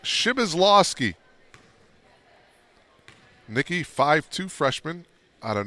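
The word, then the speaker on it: Przybylslawski: game you got a ton of points it's pronounced shibazlovsky nikki 5-2 freshman out of north bend indiana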